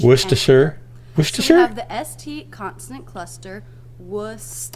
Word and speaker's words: Worcestershire: is too hard what this is the stressed syllable then we have two unstressed syllables sure mr sure lower in pitch worcestershire the st constant cluster